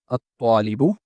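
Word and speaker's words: الطالب: So according to the sun and moon letters rule, ta is a sun letter and we omit the lam in pronunciation but keep it in writing.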